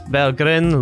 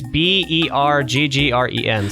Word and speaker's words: Berggren: It's Berggren, so Aha. it's Berggren? Berggren. Berggren. I'm trying to base it off of the German pronunciation, I know, but Swedish is a little bit different. Berggren in Stockholmish.